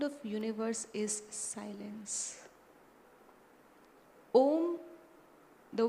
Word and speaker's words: Om: of universe is silence om the word om has three syllables a U and M A means acharan actions